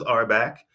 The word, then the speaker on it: RBAC: all we pronounce it it's kind of affectionately known as our back and then we say